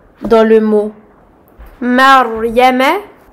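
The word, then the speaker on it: مَرْيَم: Cas numéro 2, dans le mot Maryama. Maryama. Le Ra possède un Sukun et est précédé d'une Fatha. C'est le cas numéro 2 pour lequel nous allons emphatiser le Ra.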